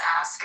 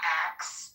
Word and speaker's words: ask: The word is ask. It's ASK. Oh. The pronunciation is not ax.